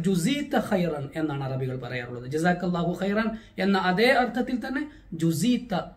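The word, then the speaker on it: جزاك الله خيرا: ജസാക്കല്ലാഹു ഖൈറൻ ഉച്ചാരണം പ്രത്യേകം ശ്രദ്ധിക്കേണ്ടതാണ്. ഒന്നാമത് ജീമാണ്, പിന്നീട് വരുന്നത് സീനല്ല, സായാണ്. ജസാക്കല്ലാഹു ഖൈറൻ ഖ ആണ്, ഖ എന്ന അക്ഷരം തന്നെ ശ്രദ്ധിച്ച് ഉപയോഗിക്കേണ്ടതാണ്. ഇത് അറബികൾ പൊതുവെ നമ്മോട് പറയാറുള്ള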